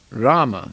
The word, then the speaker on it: Rama: the superintendent of death the word Rama consists of two syllables raah and ma these are unseparated and